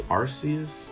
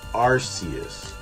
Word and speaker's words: Arceus: A lot of people pronounce it as Arceus, but shouldn't it be Arceus? Like, I don't know that the C warrants the K sound in that, in that spot.